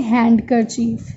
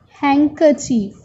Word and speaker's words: handkerchief: We never say handkerchief. D is silent here. So we say handkerchief.